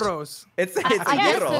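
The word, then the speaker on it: gyros: Greek delicacy yeah okay is that actually how it's pronounced Euros are you supposed to roll the r yeah you actually yeah the G is pronounced differently for people I guess yeah yeah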